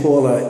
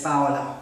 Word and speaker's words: Paola: You know, I keep saying Paula, and actually that's really not the true pronunciation of your name. How do you pronounce your name? It's Paola. It's Paola.